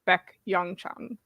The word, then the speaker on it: Baek Young-chan: Yeah, the first name is So Hyun-soo, and then the next one is Baek Young-chan. Oh, so just Beck, like the English Beck?